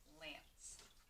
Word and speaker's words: lance: And C-E makes that soft C sound. Yeah, makes that soft C, which sounds like O-N, lance.